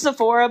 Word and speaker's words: Zepphora: pronounce it is it Zapora or Zora it's pronounced Sephora but you can just call me everybody does okay that's much